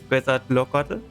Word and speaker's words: Quetzalcoatl: Quetzalcoatl? I don't know. Oh yeah, yeah. That's actually it was a good pronunciation.